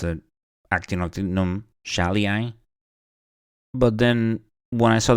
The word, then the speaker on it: schaalii: that we should provide we should pronounce it as Shi like sh so very interesting so